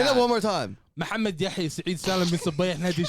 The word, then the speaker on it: Muhammad: Muhammad.